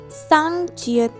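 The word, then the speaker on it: 쌍지읒: Our last double consonant is sang jiat. When jiat double, it's become sang jiat, and it has a cha sound.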